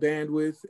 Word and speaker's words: BNDWTH: It's called Bandwidth. It's spelled BNDWTH.